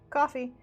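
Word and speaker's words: Ko-fi: am that kofi is spelled kofi and not coffee but pronounced coffee then you can also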